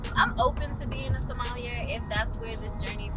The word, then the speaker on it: sommelier: So are you trying to be a sommelier? Is that how you pronounce it? Yeah, sommelier.